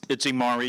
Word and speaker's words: Imari: will allow you to give the correct pronunciation of your name, and then we'll close it out. It's Imari. You were right. You're right. Thank you. Thank you. No, but your full name, Imari.